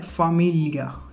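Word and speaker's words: famiglia: इसको आपने ग्ली नहीं पढ़ना, इंग्लिश की तरह नहीं पढ़ना, इसको इटालियन में जो इसकी साउंड बनती है वो बनती है ली, ओके। तो इसके साथ उन्होंने एक एग्जांपल दी है, ये वर्ड है फामिलिया, ठीक है, फामिलिया।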